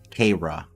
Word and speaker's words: Kara: And apparently we're not pronouncing Karya correctly. It should be Kara.